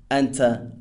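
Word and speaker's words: أنتَ: You, pronounced anta or anti.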